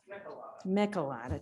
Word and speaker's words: Michelada: Well, it's spelled M-I-C-E, so it's Yeah. pretty easy to get my slot. I just tell people it's a Michelada. lot of mice spelled backwards.